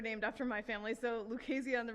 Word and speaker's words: Lucchese: Lucchese. Rhymes with crazy.